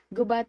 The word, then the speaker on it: Gubat: south district gubap is pronounced with the accent of the second syllable the people who live